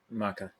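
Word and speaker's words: Macha: Um Maki is it Maki? Maka Maka.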